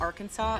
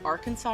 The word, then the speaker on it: Arkansas: There's a big debate about whether the state of Arkansas is Arkansas or Arkansas.